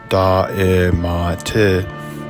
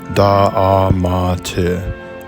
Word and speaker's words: Da'amat: The Ge'ez inscriptions spell Da'emet, which might be pronounced as Da'emat, Da'emat, or Da'amat, Da'amat.